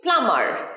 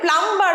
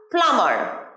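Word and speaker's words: plumber: কি বলবো কল মিস্ত্রী প্লামার এটাতেও দেখো এম আর বি আছে কিন্তু এমবি থাকলে বি সাউন্ডটা উচ্চারণ হয় না আমরা একটু আগেই জেনেছি তাহলে প্লাম্বার হবে না এখানে কি হবে ফ্লামার প্লামার আমার সাথে বলো প্লামার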